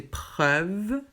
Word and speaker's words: preuve: Ici, c'est EUVE. Donc EUVE, ça finit avec un E qui ne se prononce pas. Donc c'est ouvert. Donc c'est preuve.